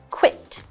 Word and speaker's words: quit: it it is pronounced quit it t makes the it sound kind of like bit okay so he has quit smoking and that's all